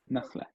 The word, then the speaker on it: نخلة: Nakhla. So when we're not pronouncing the end or when we're ending here, we'll pronounce it like a ha at the end.